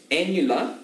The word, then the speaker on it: annular: Annular, where else have you heard of annular? Annular rhymes with formula.